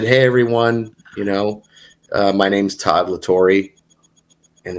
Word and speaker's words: La Torre: everyone, my name's Todd La Torre, and it's actually pronounced, or what did I say? I said it's pronounced nothing like it's spelled or something. I said it's LA capital TORRE.